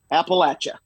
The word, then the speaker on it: Appalachia: It's like, I'm going to throw an apple at you. Appalachia. That's how you say it.